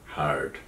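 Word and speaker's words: heard: এবং এই অতীতে উচ্চারণটা মনে রাখতে হবে বন্ধুরা, এটা হচ্ছে কিন্তু হিয়ার না, এটা হচ্ছে কি হার্ড, ওই যে হেইচে আর ডি এর মতোই, কিন্তু একটু লম্বা টান দিয়ে হার্ড, কারণ স্পেলিংটা কিন্তু হেইচে আই আর ডি, হিয়ার হার্ড হার্ড।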